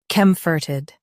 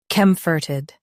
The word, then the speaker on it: comforted: Comforted. Now read the syllables shown on the screen naturally. Comfort. Ed. Comforted. Stress cum and keep ferted soft.